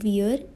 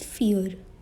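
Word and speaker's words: vier: is four in german now it is not weird it is fear feons fions it is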